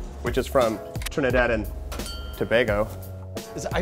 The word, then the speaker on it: Tobago: is from Trinidad and Tobago is I I thought it was toag toag Tobago tomato he he got called out